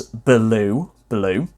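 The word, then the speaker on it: belewe: so is spelt b-e-l-e-w-e which you can phonetically pronounce as blue blue but in old english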